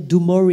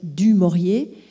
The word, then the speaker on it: du Maurier: appris très tôt à prononcer son nom correctement ne pas dire d'où mort et les dires du maurier et elle parlait le